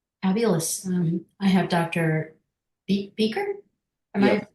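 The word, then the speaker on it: Bieker: Beaker. Am I pronouncing it correctly? Beaker.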